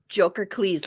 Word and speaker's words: Jokercles: Jokercles, like Hercules.